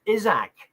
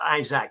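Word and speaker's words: Isack: Uh I believe his his name is now pronounced Isak and not Isaac as I um have been saying.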